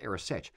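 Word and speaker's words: arisaid: it's you know it's spelled aade but it's pronounced AOS if you would ever consider wearing an AOS as well as a great Kilt what I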